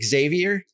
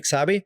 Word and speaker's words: Xavi: as well call me Xavi. Right. But in Spain, they call me Xavi. And the V is pronounced like a B.